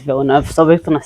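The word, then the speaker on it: Villeneuve: So 3 years later we find ourselves in a very similar situation again with instead it's with Schumaca vers Vibville. And I know I'm saying his name wrong and I know that's not the right way to pronounce it.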